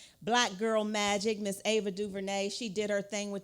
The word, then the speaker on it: DuVernay: It's DuVernay. You have to say it like this, DuVernay.